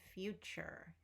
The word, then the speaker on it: future: And future is a chur like furniture.